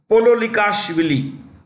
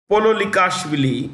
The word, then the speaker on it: Pololikashvili: Pololikashvili. I'll spell it for you. Today I'm not writing anything. I'm not using the writing pad, but I'll spell it for you. Zurab, Z-U-R-A-B, Zurab Pololikashvili is P-O-L-O-L-I-K-A-S-H-V-I-L-I.